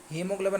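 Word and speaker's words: haemoglobin: तो हीमोग्लोबिन में आपको साइलेंट वर्ड बताना था दोस्तों, मैंने आप बताया था कि आपको हीमोग्लोबिन में ए साइलेंट होता है दोस्तों, तो इसका करेक्ट आंसर हो जाएगा आपका ए होता है।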